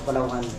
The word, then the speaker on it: Palawan: taw na o Palawan Palawan pala parang tamang pronounce Palawan ang lugar Palawan ay nasaan Dian yung na